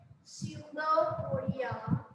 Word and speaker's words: pseudopodia: These pseudopodia, P is silent, pseudopodia or one pseudopodium, they help this animal amoeba to capture their food as well as for locomotion.